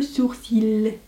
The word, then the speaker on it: sourcil: vient illuminer sous le sourcil dont on ne prononce pas le l en fait dans la